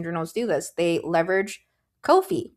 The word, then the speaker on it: Ko-fi: Or, you know, I think it's pronounced kofi, right? It rhymes, I think they said, with no fee.